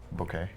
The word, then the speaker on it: bokeh: Bouquet. How do you pronounce that? According to Bucket. the Wikipedias and various pronunciation guides, it's bouquet, but every photographer in this room says bokeh.